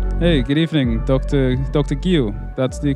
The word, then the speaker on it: Guío: Guio. That's the correct pronunciation, right?